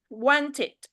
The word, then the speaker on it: wanted: So when it's end with t or d sounds, not the letter, okay? It's kind of wanted. So the end sound is t. So once we add ed, so it's we pronounce it wanted.